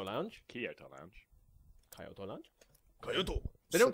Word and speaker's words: Kyoto: Kyoto. They don't call it... Japanese people don't go Kyoto. They go Kyoto.